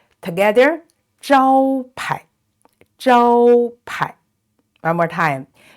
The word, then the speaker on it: 招牌: That means this is unstressed, so it's pronounced 排 together. 招牌 one more time. 招牌 and this 菜 the vowel is ai, is